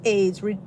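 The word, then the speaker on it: Ayds: it does aids candy bar still exist aids pronounced aids reducing plan candy is discontinued appetite suppressant candy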